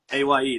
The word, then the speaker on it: Aye: and then A, A. like yeah, like I'm voting AYE.